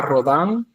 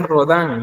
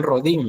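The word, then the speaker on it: Rodin: Eh, tenemos a Rodán, es es eh acuérdese que bueno, todo lo que termine en I en francés es es se pronuncia como an. Entonces, es rodán, no digan rodín, es rodán.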